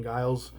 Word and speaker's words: Guile: I used to call him Gilly back in the day instead of Guile.